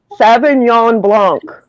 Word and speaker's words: Sauvignon Blanc: I don't know how to pronounce these right, like a Sauvignon Blanc. Sauvignon Blanc.